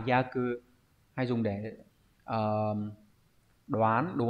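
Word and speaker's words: 約: Ước đọc là yaku, hay dùng để đoán, đúng không nhỉ?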